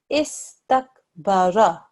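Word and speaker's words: استكبر: Istakbara. Istakbara. You make sure you join, you make sure you sound out both letters, but you don't linger too much, okay? You don't do is. It's just istakbara.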